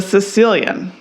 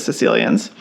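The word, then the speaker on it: caecilian: Legend is the world's most elusive amphibian the Sicilian ah all right sounds like a person from but that's spelled sure does I'm thinking of Princess Bride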